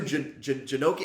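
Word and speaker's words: Janocko: I can't think of his Janecki? Something like that. I'll look it up. I can never remember the pronunciation.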